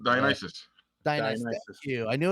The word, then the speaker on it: Dionysus: Dionysus. Thank you. I knew I was going to miss a syllable somewhere.